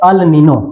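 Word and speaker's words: El Niño: spelling आप देख पा रहे हैं ई एल एन आई एन ओ ठीक है ई एल एन आई एन ओ इसको बोलते हैं अलनिनो ठीक है मैंने बोर्ड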